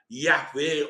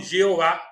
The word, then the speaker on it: Javé: Depois descobrimos que uma das pronúncias possíveis seria Javé ou Javé, né? Não Jeová, que é a maneira como colocaram para que não se pudesse pronunciar o nome de Deus, mas vamos falar depois.